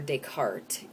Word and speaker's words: Descartes: pronounced decart and uh you don't pronounce the S um well in English